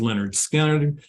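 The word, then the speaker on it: Lynyrd Skynyrd: 50 years ago, pronounced Leonard Skinner.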